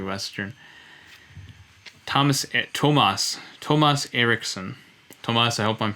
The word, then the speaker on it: Tomas: it's swedish i know i thought for a long time you were thomas erickson but we've corrected that now tomas is from sweden so what is your